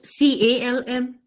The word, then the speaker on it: calm: look at now in another word we wrote c a l m c calm calm now can you tell me